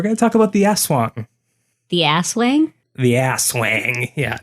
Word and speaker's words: Aswang: something like, don't forget I thought it was pronounced Aswang, to be honest, from how it's spelled. Spelled Aswang. There's not two S's in there. I don't know. If it starts with an AS and ends with a wang, it's Aswang. So it is, and I